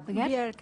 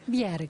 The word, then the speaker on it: Bjerg: Estamos con María, ¿cómo se pronuncia? Bjerg. Bjerg, bien, danés, ¿no?